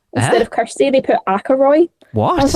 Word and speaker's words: Ackroyd: Instead of Kirsty, they put Ackroyd. What? I was like, I don't know how they've got that one. It's spelled like A-K-A...